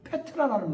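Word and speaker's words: Πέτρα: 헬라 이름으로 페트라라는 말이에요. 페트라. 페트라가 헬라식 발음이거든요. 근데 그거를 영어식 이름으로 왔을 때는 피터 피터가 되는 거예요.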